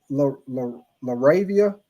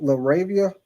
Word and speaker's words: LaRavia: Jake Laravia. Who? Jake Laavia. His last name spelled L A R A V I A. I guess that's how you pronounce your name. Jake I never even laravia, but they sign him for two year 12 million.